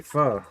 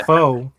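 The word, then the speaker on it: phở: And I did say pho. That's the correct way to say it. It ain't pho. Sound like Mr. T. I pity the foe.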